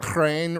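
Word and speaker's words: хрен: I mean, I think that there is a reason that crane rhymes with pain.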